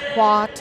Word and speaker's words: Hout: Hewitt, yeah. Yeah. I do, but every time I look at it, H-O-U-T doesn't get me to Hewitt. Oh, no. It's Hoyt, it's Hoyt, it's...